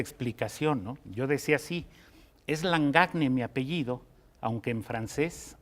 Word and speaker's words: Langagne: y dice lang acné langagne de dónde es y cómo lo pronuncia o como nos lo estira ya mira me preguntaron cómo decirlo porque la gente que habla francés dice la engañe como nadie se atrevería